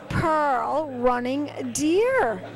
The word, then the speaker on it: Pearl Running Deer: bar and i'm here with this fabulous model pearl running deer did i say that right you said it